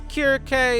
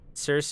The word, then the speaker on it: Circe: She's a Greek person, so I'm pronouncing her name the Greek way. Circe is some weird change to the pronunciation that came about over time for some reason.